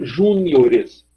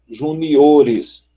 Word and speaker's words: juniores: Então você tem júnior, se você só fosse acrescentar o ES, ficaria júniores, júniores. 1, 2, 3, 4. Aí por isso a gente muda para a sílaba forte aqui, juniores.